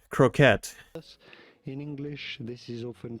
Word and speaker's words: croquette: Croquettes, with an emphasis on the second syllable.